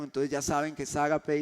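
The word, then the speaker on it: agape: un término griego llamado o bueno se pronuncia ágape ágape es la traducción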